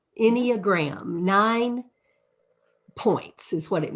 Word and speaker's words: Enneagram: it correctly you are any just like anybody anyagram nine points is what